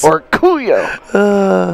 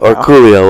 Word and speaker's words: Orcollo: And with that Let me emphasize. Orcollo. Yeah, so that's the way we say it. Orcollo. Well, I like it. Orcollo.